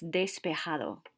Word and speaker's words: despejado: can remember that and despejado means clear remember that whenever you see a j it's always pronounced like an h so that's despejado like the clouds had